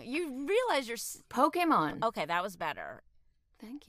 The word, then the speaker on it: Pokémon: I played various Pokemon. You're saying it wrong. You realize you're... Pokemon.